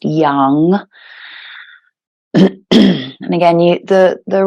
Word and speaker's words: yam: to our heart and that is yum y a m but again pronounced Young and again you the